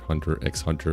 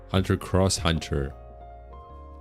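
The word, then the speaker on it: Hunter × Hunter: X typically means cross in Japan, but some Digimon creators feared it would just be called X heart. So they put the uh Ross to avoid the same trap that Hunter ex Hunter fell into. Oh, Hunter cross Hunter.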